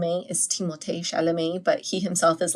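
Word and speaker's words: Timothée Chalamet: all right so apparently the correct way to pronounce Timothy Shalom is timot shalam but he himself is like obviously I don't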